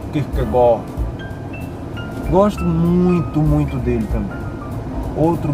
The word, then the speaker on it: Kierkegaard: Nietzsche e Raul Seixas, para mim, dois grandes pensadores referenciais, e Søren Kierkegaard, que se pronuncia Kierkegaard.